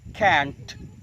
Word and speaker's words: can't: Jadi can't itu singkatan dari cannot, yang artinya tidak bisa atau tidak dapat. Berikutnya ada versi lain, tetapi pengucapannya adalah T-nya ditahan, tidak dilutupkan.